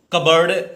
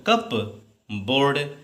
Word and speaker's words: cupboard: अगला CUPBOARD, बहुत बढ़िया वर्ड है, प्रोनाउंसिएशन निकालो आप, कैसे निकालोगे, कबर्ड है ये मान लो बेटा। तो पढ़ते तो हम लोग ऐसे देखने में क्या लगता है, कप बोर्ड, यही आप निकाल देते हो, कप बोर्ड, कप बोर्ड।